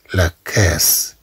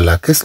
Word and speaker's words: caisse: كما تلاحظوا عندنا دوز اس. لحقاش هنا عندنا اي وهنا عندنا او. إلا خلينا غير اس وحده غنقراوها لا كاز. إذن حتى لا تنطق هاد اس كزاد أضفنا اس. أننا ضاعفنا هاد اس.